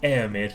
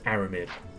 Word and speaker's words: Aramid: aramid water on them i know it says air mid but it's pronounced aramid i don't know i